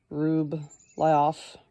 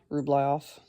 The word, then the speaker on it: Rublev: any women artists footnote Andre rublev pronounced rub liof ruof 1365 to 1430 question mark